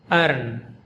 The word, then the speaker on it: urn: The word we are pronouncing in this video is pronounced urn. Urn. Just like to earn something, same pronunciation, different spelling, different meaning.